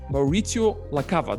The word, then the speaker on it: Maurizio La Cava: Maurizio La Cava. Do I pronounce that right?